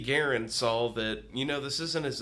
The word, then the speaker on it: Garand: Garand. That's right, it's actually pronounced Garand.